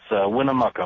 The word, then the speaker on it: Winnemucca: your town on Sirius satellite how do you pronounce that it's Winnemucca mark Winnemucca all right my friend go right